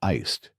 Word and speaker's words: iced: But in English, you should say iced with a d sound at the end. That's right. Iced americano, not ice americano.